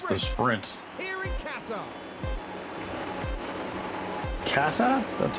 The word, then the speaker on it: Qatar: Kata, that's how you pronounce that.